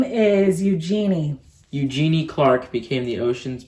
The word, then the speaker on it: Eugenie: Shark Lady, the true story of how do you pronounce her name? Her name is Eugenie.